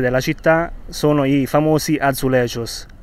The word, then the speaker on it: azulejos: delle numerose chiese della città sono i famosi azulejos e in cosa consiste sono momenti di vita